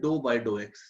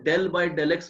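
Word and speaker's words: ∂/∂x: पहले बात तो इसको प्रोनाउंस करते हैं डो बाय डो एक्स, कुछ लोग डेल बाय डेल एक्स बोल देते हैं, वो बहुत ठीक नहीं है बट चलेगा, वो भी चल जाएगा, दैट इज ऑल्सो ओके।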